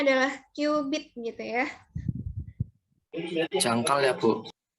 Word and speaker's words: cubit: menggunakan satuan namanya newbie Hai tulisannya cubit tapi dibacanya adalah cubit gitu ya jangkal ya Bu Iya nah satu